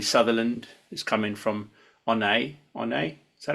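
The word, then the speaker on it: Oyonnax: We've had Rory Sutherland, who's come in from Onay. Is that how you pronounce it?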